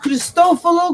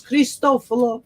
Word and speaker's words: Cristoforo: My dad used to always say, it's pronounced Cristoforo Colombo. Okay. How he would say it. It's, 1910. In this country, we say Christopher Columbus, and he would correct us and say it right. It's Cristoforo Colombo.